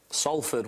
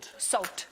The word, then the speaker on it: Salford: Salford, we've said this before. What did he say? He said Salford. Well, it's spelled S-A-L-F-O-R-D. Spelled that way, but it's said. Did you say salt? Salford. No, salt.